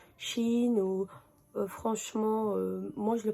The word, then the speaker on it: Shein: ça me dit que ça se prononce pas Cheyenne, ça se prononce Chine ou franchement, moi je le prononce comme je veux, chacun le prononce comme je veux.